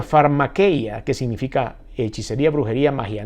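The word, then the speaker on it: φαρμακεία: como siempre lo decimos que se pronuncia pharma que ya que significa hechicería brujería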